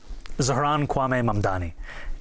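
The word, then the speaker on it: Zohran Kwame Mamdani: If you can respond to that and tell us how you say it, your full name, Zaharanwaame Mamdani.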